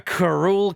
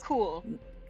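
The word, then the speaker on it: Karkhuul: we didn't do the make sure everyone knows how to pronounce things thing. This is why we need to do it. He's Inga Karul Karain. No, Yes. Karkul.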